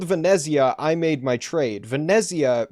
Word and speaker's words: Venezia: I made my trade Venezia being the Italian way of pronouncing uh Venice the Italian way of pronouncing Venice yeah uh it's Northern